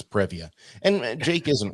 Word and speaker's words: Previa: like a squished previa he said pebbia but i'm going to assume he means previa and jake isn't wrong